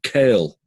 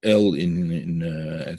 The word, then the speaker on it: El: Therefore, for example, if the deed the act is an act of kindness, then the name Kel, Aleph Lamed, or El as you would pronounce it, is the name that is manifested in that type of action.